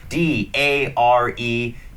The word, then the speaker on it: dare: ตัว ดี นะ ครับ d a r e dare ซึ่ง เป็น เป็น การ ออก เสียง แบบ อเมริกัน นะ ครับ ถ้า เป็น อเมริกัน ตรง นี้ จะ ออก เหมือน สระ เอ นิด นึง นะ ครับ ไม่ ไม่